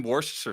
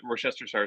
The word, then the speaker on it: Worcestershire: That's in Worcestershire sauce. Yeah, it is. The anchovies are actually in Worcestershire sauce.